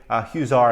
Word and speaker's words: Huizar: Eric Garcetti's right-hand man, Jose Huizar, I believe is how you pronounce his last name.